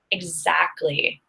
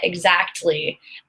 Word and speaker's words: exactly: well I always say exactly and some of my friends make fun of me because they say exactly so I'm pronouncing all of the letters in it whereas some of my friends don't but we're all Native